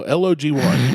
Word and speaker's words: logy: No, L-O-G-Y, logy.